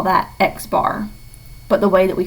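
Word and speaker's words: x̄: going to be noted with an X and a bar over it and we pronounce that X bar and the population mean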